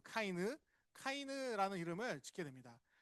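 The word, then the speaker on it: קין: 정확하게는 카이느예요. 카이느 카이느라는 이름을 짓게 됩니다.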